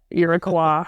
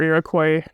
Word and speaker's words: Iroquois: While Iroquois or Iroquois, depending on whether or not you're using the French pronunciation, would be like those like bloodthirsty killers.